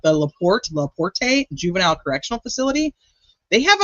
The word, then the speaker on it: LaPorte: It's okay, it's pronounced La Porte.